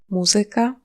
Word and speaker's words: muzyka: Il peut être sur la troisième syllabe avant la fin dans des mots d'origine grecque ou latine du genre Muzyka, polityka, fizyka.